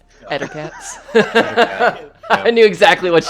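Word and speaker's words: Ettercaps: He's mispronouncing Elder Caps or whatever they're called. Ettercats.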